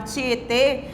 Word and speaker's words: Tietê: aqui com acento circunflexo palavra tietê com acento circunflexo que agora vai indicar um som fechado como se estivesse fechando mais a boca ao pronunciar essa palavra taubaté né tietê né